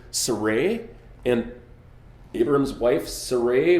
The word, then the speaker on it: Sarai: sir Sarai her name the pronunciation of her name is much probably surae and Abraham's wife sir